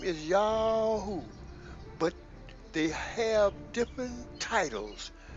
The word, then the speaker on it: YHWH: And the heathen shall know I am YHWH, pronounced Yahoo, the Holy One of Israel.